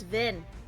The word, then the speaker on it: Vin: able to update you it's not Veen it's Vin VIN I wrote down Veen it's Vin v-i-n VIN pronounced it as